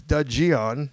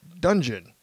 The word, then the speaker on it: Dudgeon: just so you know my last name is dudgeon not dungeon now i hope i